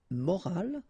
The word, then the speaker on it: morale: but in that case you've got this e at the end, which is silent, so you don't pronounce it.